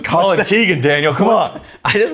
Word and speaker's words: Colkegan: would be colon colony it's not colin kagan yeah what's that it's colin keegan daniel come on i